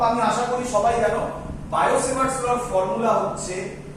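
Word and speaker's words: Biot–Savart: বায়ো-সেভার্টস ল টিটা হচ্ছে সাইলেন্ট থাকে, বায়ো-সেভার্টস ল এর ফর্মুলা ডিটেইলস জিনিস আশা করি তোমরা সবাই বোর্ডে করেছো।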